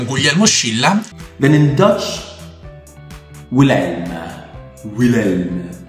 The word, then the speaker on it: Willem: Then in Dutch, Willem. Willem. No, the W is pronounced like a V, so Willem.